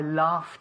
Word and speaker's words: laugh: Ask me if I laughed at your joke. Did you laugh at my joke? Okay, how do we pronounce Did you laugh at my joke?